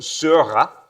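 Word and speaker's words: Seurat: and a package called Zura you have to pronounce it French because it's named for the French painter named Sura and you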